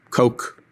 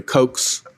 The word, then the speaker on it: Koch: John, it looks to me like pretty much every one of your employers has been funded by the Koch political operation. By that, I spell it K-O-C-H.